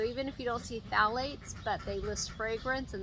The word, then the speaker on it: phthalates: chemicals so um phthalates that starts with a ph so it's an odd word but it's pronounced phthalates unfortunately they have been